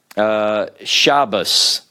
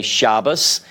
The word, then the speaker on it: Shabbos: when they say Shabbos, whenever they say Shabbos, they are, I learned this not long ago actually, they are making a distinction whenever the Dagesh is not present in the Tav. So what they would do is whenever they see a Tav, some Orthodox, they will use the S sound to distinguish this from the tav with the Dagesh in it.